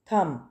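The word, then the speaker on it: thumb: Next है थम। थम, राइट का मतलब होता है लिखना, थम अंगूठा, ठीक है, थम। तो यहाँ पे B साइलेंट है, ठीक है, थम अंगूठा, हाथ का अंगूठा।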